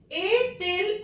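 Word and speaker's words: a-t-il: ए टिल मैंने क्यों pronunciation किया इसका, क्योंकि ये वॉवल इस टी कॉन्स्टोनेंट टी की साउंड ले रहा है, तो ए टिल गार्सों।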